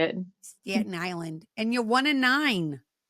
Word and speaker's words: Staten Island: Staten Island.